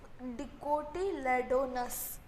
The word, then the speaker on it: dicotyledonous: तो देखो इसको जो प्रोनाउंसिएशन है वो डिकोटिलेडोनस, आपके लिए मैं स्लोली कर दिखा रही हूँ कि आपको अंडरस्टैंड हो जाए।